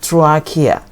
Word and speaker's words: trachea: that very important part here that is called trachea trachea this pronounced k guys do pronounce it russia wrong trachea and now this atracia is flexible and made